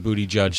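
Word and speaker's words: Buttigieg: butI judge or heard bootie judge say that who did that's Andrew Sullivan said wrote about how to pronounce his name bootie like he's a judge in a bootie judging competition so yet I can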